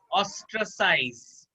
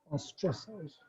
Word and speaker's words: ostracize: ऑस capital में है तो उसको ज्यादा प्रोनाउंस, माने ज्यादा एम्फेसिस करना है। ऑस्ट्रासाइज, ऑस्ट्रासाइज, ostracize. Ostracize.